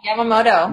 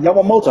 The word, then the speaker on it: Yamamoto: Yeah, Yamamoto. Yamamoto.